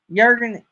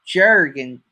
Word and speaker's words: Jurgen: Jurgen, it's pronounced like it should be spelt with a Y, right? So it's not pronounced Jurgen Journey.